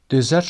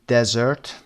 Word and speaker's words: dessert: دیزرت رو به همین صورت تلفظ بکنید، چون اگر بخواید تلفظش رو بگید دزرت، اگر بخواید اسرش رو قسمت اول بیارید شبیه به کلمه بیابان میشه دزرت. پس قسمت دوم دیزرت و اولی ای و دومی صدای دزرت.